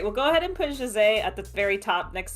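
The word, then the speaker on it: José: I say his name, the Brazilian pronunciation of that name is Jose. That's why I'm calling him that. The current media does not call him that. They always call him by the Spanish pronunciation, Jose.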